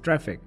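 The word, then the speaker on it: Traefik: as not traffic but it is pronounced as traffic now if you were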